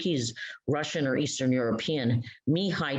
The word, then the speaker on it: Mihai: I think he's Russian or Eastern European, Mihai Csikszentmihalyi. So his first name is Mihai, his last name is Csikszentmihalyi.